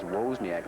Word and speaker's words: Wozniak: You know, we found out earlier, at least I found out yesterday, the true pronunciation of Andy's name is Wozniak.